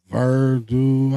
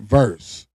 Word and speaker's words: Verse: But yeah, that boy Miles Garrett got traded for the guy name is Verdu. How you say his name? Jared Verse.